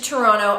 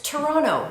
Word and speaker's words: Toronto: Number 1 is how you pronounce Toronto. It's Toronto, not Toronto. So I hear people making that mistake all the time. I'm sure you've heard about this, but we say here in the city, Toronto.